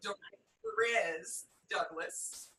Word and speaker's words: Dorez Douglas: Okay, a lot of people do butcher the name, so don't worry. It's Dorez Douglas, and I'm from Los Angeles.